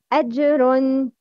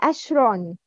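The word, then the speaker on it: أجرٌ: Ajrun. Not to convert Jim into Sheen when pronouncing. It's Ajrun, not Ashron.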